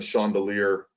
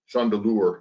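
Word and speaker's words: Chandeleur: wildlife service on the chandelier um chandelure excuse me i mispronounced it the chandelure islands which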